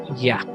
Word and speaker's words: Yah: es abreviado, es decir, escrito solo con una Yod y una Hei, y con las 4 consonantes como YHVH o Yod-Heh-Vah-Heh, su pronunciación es Yah.